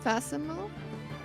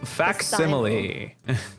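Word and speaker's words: facsimile: F fasimal. F. Nope. Faximile. The hell makes sense. This is Uh-huh. Sure. Fasimal makes way less sense when you realize it's simile put together with fact.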